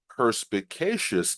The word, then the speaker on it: perspicacious: example she was a perspicacious Observer of human behavior and was able to pick up on subtle cues that others might miss when it comes to pronunciation stress the fourth syllable Asus Asus another key